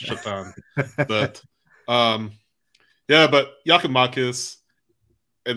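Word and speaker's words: Šatan: Well, his name is spelled S-A-T-A-N. He's Slovak. But that always seems to be a running joke that his name was pronounced Satan, but it's Chatan.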